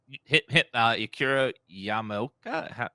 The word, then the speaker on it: Akira Yamaoka: Yeah, Akira Akira Yamaoka.